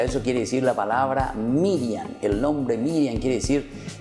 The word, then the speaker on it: Miriam: Ustedes saben que en hebreo, queridos chicos, se dice Miriam.